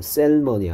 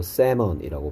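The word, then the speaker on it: salmon: 특징이 있다 그 다음에 일단 세몬에서 l이 소리가 나지 않는 묵음 뮤트입니다 그래서 셀머니 아니고 세먼이라고 발음해야 되고요 그 다음에 얘가 양사슴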